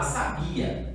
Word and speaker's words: sabia: O bi foi a minha sílaba mais forte quando eu chamei a minha palavra.